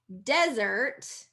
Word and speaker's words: desert: So desert is first syllable stress.